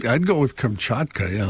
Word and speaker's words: Kamchatka: I' I'd go with Kamchatka. Yeah, like you were. Oh my god. I was You got to say more like Kamchatka. Yeah. Yeah. You can't say kungchka.